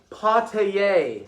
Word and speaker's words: Pattay: year my name is madame pattay it rhymes with touche that's a french word that means you got me she smiled openly then